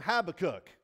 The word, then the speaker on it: Habakkuk: grew up in Canada and we call him habac cook and then I come down here and everyone's